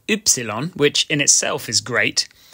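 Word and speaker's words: Ypsilon: Sometimes, the letter Y, which is called Y, which in itself is great, can be used as a vowel, making an Ü sound.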